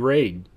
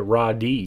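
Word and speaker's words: Ra.De.: own Standalone title first off we have ESP raid yes I know the ra period de period doesn't actually pronounce raid but that's what it says at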